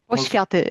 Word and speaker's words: Poświaty: Poświaty it is. Oh, Poświaty.